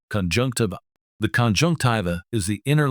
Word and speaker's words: conjunctiva: First, let's practice its pronunciation: conjunctiva.